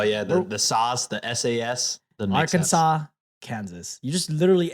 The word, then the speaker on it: Arkansas: I mean, Kansas, Arkansas they spell the same. They still don't pronounce it the same. But, oh, yeah. The SAS, the SAS. Arkansas, sense.